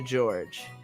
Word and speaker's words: George: is one of my cousins his name is pronounced USI Romeo George he's 5 years older than me so he's